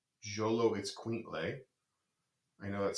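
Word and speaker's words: Xoloitzcuintle: It's pronounced Jolo Itzcuintle.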